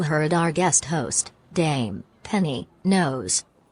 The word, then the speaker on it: Knowles: Dame Penny knows. Hello. Yes, that is correct. I am the Dame Penny Nose. Silent L actress and presenter active in all genres including film, radio, stage, television, and podcast.